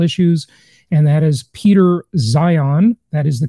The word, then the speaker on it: Zeihan: world on geopolitical issues and that is Peter Zion that is the correct way to pronounce it by the way he is the